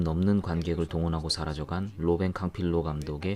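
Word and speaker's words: Campillo: 로벤 칸 필론 은 칸 필로 혹은 캉 피오 라고도 불리고 캉 pu 라고 부르는 쪽이 발음상 으로 더 맞다고 는 하는데 한국에 조문 영화관련 언론들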